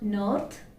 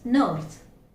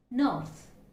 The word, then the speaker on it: north: It's not north, it's north, north.